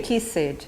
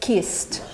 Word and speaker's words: kissed: The pronunciation is T, and this thing has only one syllable. You don't say kissed, you say kissed.